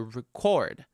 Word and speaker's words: record: We put it on the second syllable because it's a verb. I like to record.